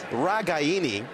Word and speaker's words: Ragaini: And they said, first of all, Grandma not very happy that everyone said Ragaini, because at minimum, it's Ragaini. But the correct pronunciation for a family who has come directly from Italy to the United States is Ragaini.